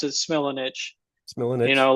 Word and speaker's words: Smilanich: We pronounce it Smilanich.